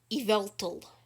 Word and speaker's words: Yveltal: watching that video come to my video the pronunciation of yavltal started in a pokemon talk episode he knows it's yveltal gavel tall is it is it evil dog